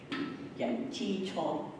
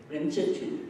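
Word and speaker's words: 人之初: Yan Qi Chuo. How do you say it in Mandarin? Ren Zhi Chu, yes.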